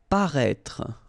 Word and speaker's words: paraître: Okay, so if you remember from the first video, then we had as well this accent circonflexe on the top of I here, but then you don't pronounce it. Okay, so you should write it definitely because, you know, that's the correct way to write it, but then you don't pronounce it. Paraître. Okay, same thing. Final E is not really pronounced, so paraître.